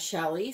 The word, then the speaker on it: Shelly: Some pronounce it Sheely, some pronounce it Shelly. I've heard her say her name as Shelly, so I'm going to call her Shelly.